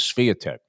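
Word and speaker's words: Świątek: But and notice we've modified our pronunciation of the because u I believe it is Spitech.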